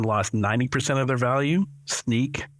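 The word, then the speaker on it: Snyk: 90% of their value sneak uh uh is is the way that's pronounced but it's you might be more used to seeing it spelled Sy ynk uh lost I think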